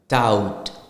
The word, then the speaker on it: doubt: For example, if B comes before the T, for example, doubt. നമ്മൾ doubt B pronounce ചെയ്യത്തില്ല.